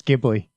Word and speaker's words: Ghibli: And End there is actually a correct pronunciation for that. and it's Ghibli.